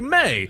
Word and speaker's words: me: and me is pronounced like May.